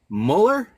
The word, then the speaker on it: Mueller: I am your host, and we have the beautiful, wonderful Kendra Müller. Yes, you pronounced it right.